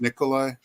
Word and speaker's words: Nicola: as the deputy and whatever her name is, Nikolai, I guess is the correct pronunciation. Nicola Willis.